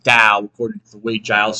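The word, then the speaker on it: 道: That means it's a hard tao. But it's not an apostrophe. So, it should have been pronounced dao. But I didn't know that. Nobody knew that. So, we all said tao.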